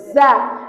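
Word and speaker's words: ظ: Lihat pengucapan huruf za di ujung lidah. Za, agak digigit lidahnya.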